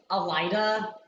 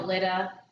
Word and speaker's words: Aleeda: I've heard like Aleida. Yeah. I mean, our mom's name, it's spelled Elida, and people Mhm. pronounce it wrong all the Yeah, like time. Aleeda.